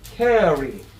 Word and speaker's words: carry: 그래서 carry. carry. 그냥 캐리예요? carry예요. carry. 알발음 carry. carry. 알발음은 혀가 입천장에 닿을까 말까.